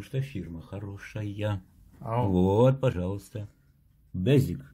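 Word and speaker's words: Beswick: Безик. Безик. Безик. Вот так. Пишется с W, как Безвик, да.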